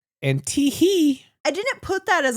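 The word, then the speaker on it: T. Hee: It's Teehee. Teehee. Just for clarification, it's T period. Not Teehee. Last name He. Not T-H-E-E. H-E-E. And Teehee.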